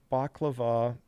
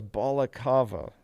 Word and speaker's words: baklava: to heat the water baklava baklava so they're pronounced the same i thought it was balacava or something ah so you it's